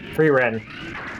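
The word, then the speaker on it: Frieren: Freren.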